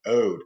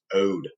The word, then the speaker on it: ode: reading what's called an ode and it's pronounced oh not od or not oday it's pronounced ode number three free verse